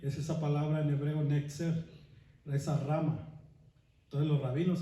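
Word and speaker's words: נצר: ¿Saben cómo se dice rama en hebreo? Dice netzer.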